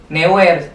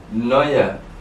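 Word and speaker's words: Neuer: ker Bay Munchen itu kebanyakan Anjir si neer atau sier padahal mah itu Teh dibacanya Noer Noer ada EU di sana Oi jadi Noer neer yang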